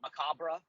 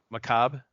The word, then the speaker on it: macabre: are you talking about macabre Macabre music very dark yeah I I yeah it is you spelled it right you're saying it right it's Macabre yeah the uh the r's are silent uh anyway so we're